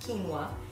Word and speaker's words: quinoa: So quinoa is spelled Q-U-I-N-O-A, but it's pronounced quinoa.